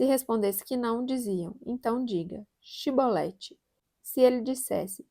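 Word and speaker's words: shibboleth: é efraimita se respondesse que não diziam então chibolete se ele dissesse sibolete sem conseguir pronunciar corretamente a palavra prendiam e matavam no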